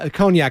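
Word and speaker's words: Cognac: is that she doesn't know per Michelle uh conac that's how it's pronounced always don't worry yeah conac there you go from France uh good to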